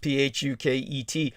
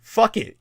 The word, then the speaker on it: Phuket: they're comical, or Thai names from Thailand, like Phuket, the name of a city in Thailand.